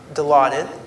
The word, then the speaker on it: Dilaudid: sir the first you provided him with um Dilaudid am I pronouncing that correctly that's correct yeah and then